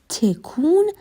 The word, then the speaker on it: تکون: He says, به خاطر 2 تا تکون هواپیما. The word تکون is a Persian noun and is the conversational pronunciation of تکان.